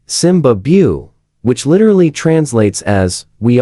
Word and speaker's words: Zimbabwe: In reality though, the B in Zimbabwe is silent because the Shona people who live in Zimbabwe don't pronounce the B sound. Instead of Zimbabu, they say Simbabu, which literally translates as we are the lion.